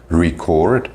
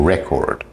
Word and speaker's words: record: talk about pronunciation, is the example of something like record or record. So record, what I'm doing right now, record, if you run the fastest, for example.